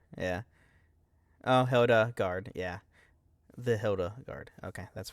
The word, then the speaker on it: Hilda Garde: I'm actually right on pronunciations this week. Hildegard is why I always said I left the E off. Hildegard, yeah. Oh, Hildegard, yeah.